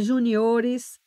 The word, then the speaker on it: juniores: Chama também atenção para estas palavras que elas são paroxítonas e as pessoas às vezes pronunciam de forma equivocada. Então, é filantropo, é curto-circuito, não é circuito, é fluido, não é fluido, é gratuito, não é gratuito, é pudico, não é púdico, é juniores, é látex, látex.